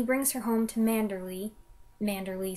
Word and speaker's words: Manderley: Manderley sounds better when pronounced with an English accent as Mandalay, his sprawling country estate